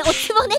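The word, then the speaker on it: お局: それおつぼねって読むんだよ。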